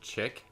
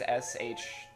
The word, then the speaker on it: chic: Yeah, isn't it chick? It's spelled chick. It's spelled CHIC, and I feel like there's like a Oh, dash that's right, that's somewhere. right. But chic is SHEIK.